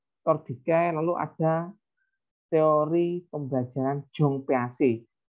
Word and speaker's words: Jean Piaget: Setelah Ausubel, Tordikai, lalu ada teori pembelajaran Jong Piaget. Itu bacanya Jong Piaget ya. Kalau tulisannya Jean Piaget, tapi bacanya Jong Piaget.